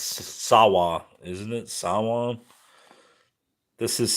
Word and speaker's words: Samhain: It's not Samhain. It's Sawa, isn't it? Sawa? This is Sawa. I don't know how to say it. I know it's not Samhain, though.